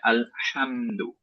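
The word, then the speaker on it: الحمد: তো এইখানে আমরা অনেকেই যেটা করি সেটা হচ্ছে হা বলে ফেলি, এবং this is লাহানজালি actually. Okay, so আমাদের পড়তে হবে আলহামদু, আলহামদুলিল্লাহ, আলহামদু।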